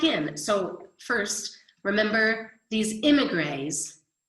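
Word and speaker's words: émigrés: When they caught him and put him back in, so first, remember these immigrants, and I say grays because in French, this accent over an E is pronounced like A.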